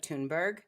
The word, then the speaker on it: Thunberg: Yeah, By the way, I would like to take a moment here to compliment your pronunciation of Thunberg.